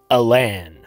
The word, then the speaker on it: Alan: some sources chester arthur chose to pronounce his middle name with an emphasis on the second syllable so it was not alan it's not chester allen arthur it's chester aylin arthur yep so it's chester